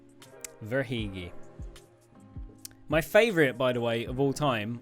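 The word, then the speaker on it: Verhaeghe: give that to you it is pronounced and this is and I'm going by what I've heard on like commentary Carter vagi The verigi Carter verigi yep verigi my favorite by the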